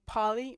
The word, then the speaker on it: Pauli: But There's also a woman named Polly Murray. Her name is spelled Pauli, and her last name is Murray.